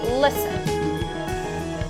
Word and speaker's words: listen: Memang benar, tulisannya adalah listen. Tapi pengucapannya itu bukan listen. Cara mengucapkannya itu adalah listen. Listen to me. Begitu yang benar. Bukan listen to me. Listen, itu salah ya. Yang benar itu listen.